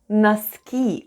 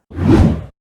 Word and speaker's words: носки: The first sound is /n/, then we have letter O, which is unstressed and is pronounced as /a/ then goes /s/, /k/, and /ee/ at the end. And all together it's НОСКИ /naskee/ .